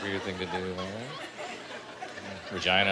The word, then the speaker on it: Regina: Regina. I like vagina, man.